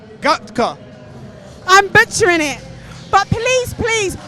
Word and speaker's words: Gatka: Herman, I don't want to pronounce it wrong. Gatka. It's a Sikh martial art. Gatka. Gatka.